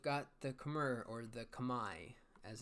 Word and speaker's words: Khmer: estier next we've got the khmer or the kamae as it's supposed to be pronounced but everyone calls it them the kimmer so kamer so battle elephants which are their